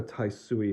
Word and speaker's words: Taisui: actual watercolor this is an original work by taisui and again this is inazuka taisui not ha sui the spelling's very similar as was the pronunciation but this is his last name is